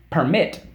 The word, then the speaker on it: permit: let you do this permit okay per MIT permit the accident is on the second syllable for syllable per second syllable permit okay doc I'd cross